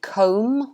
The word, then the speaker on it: comb: final b um and comb also form from worm's comment the b is silent too good job guys well